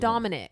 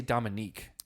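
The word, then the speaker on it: Dominick: I know, but I want to say Dominique. That's a woman's name. I've known guys who are named Dominique. Okay, well, it's Dominic. I looked at the spelling. It's spelled N-I-C-K.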